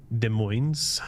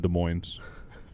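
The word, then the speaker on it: Des Moines: Let's grab ourselves another job then because you're in De Moines. De Moines. Is it shouldn't be pronounced as a French accent.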